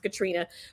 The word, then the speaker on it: Katarina: my name katrina which is spelled katarina pronounced katrina my mama saw it on tv loved it and she said this is how i'm going to spell it this is how i'm going to pronounce it but it means